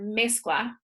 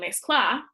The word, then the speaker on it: mezcla: When I say the word mezcla, I'm not saying mezcla, I'm saying mezcla. Now, generally, when you have a Spanish word, the second to last syllable is the one that gets accented when you speak. So, for example, the word, I just keep thinking of cookies, galletas. I don't say galletas, I say galletas.